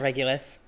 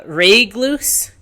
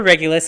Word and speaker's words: Regulus: James and Real uh Regloose. Teaser ready. Regloo. Really? Before Regulus had finished processing the atrocious pronunciation of his name, James was at his side with two drinks.